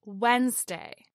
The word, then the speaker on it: Wednesday: And lastly, we have Wednesday, the third day of the work week as Wednesday, not Wednesday.